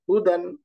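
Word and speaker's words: هُدًى: তারপরে হাম্মাহু দাল ফাতাহাতাইন এখানে দেখেন শেষে একটা ডটলেস ইয়া আছে এই ইয়াটা জাস্ট শুধু লিখা থাকে এটা উচ্চারণে থাকে না এটাকে আরবিতে আলিফ মাকসুরা বলে এটা উচ্চারণে থাকবে না এজন্য বানানেও আসবে না এটা শুধু এভাবে বললেই হবে দাল ফাতহা দা হা দম্মা হু দাল ফাতহা তাইন দান হুদান হুদান উচ্চারণ হবে হুদান হুদান আল্লাহু আকবার একই রকম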